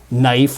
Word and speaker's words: knife: And this applies to all the KN words, by the way, like knife was knife and knot was knot and so on. So we just stopped saying that KN sound.